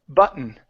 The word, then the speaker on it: button: for that we say instead of but button it's button button uh where I'm sorry